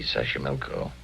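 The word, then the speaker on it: Xochimilco: Toxco Pueblo Sash Sashi Milco. Okay, so you pronounce it better than I do. Easy. Sasha Milco.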